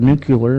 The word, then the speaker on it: nuclear: just saying it's I I've heard nuclear and nucle you know right but the word is spelled n u c l e a r okay this is not